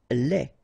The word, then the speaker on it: lait: Lait. Un lait. Okay, so the only difference is final thing here, D, you don't pronounce it, T, you don't pronounce it, so phonetically you only have this le.